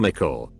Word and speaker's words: Mickle: And for whatever reason some of the other kids called him Mickle, pronounced like pickle.